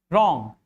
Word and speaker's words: wrong: Wrong. W-R-O-N-G. Now here too, W comes before R. In wrist, like wristwatch, W comes before R, and wrap, W comes before R. In all these words, W is silent.